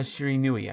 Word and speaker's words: Shiranui: Genma Shiranui, I believe is how you say his last name.